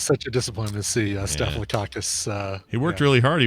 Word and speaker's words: Staphylococcus: Staphylococcus, yep. Oh, man, remember he lost to George Bush Sr.? That was such a disappointment to see Staphylococcus.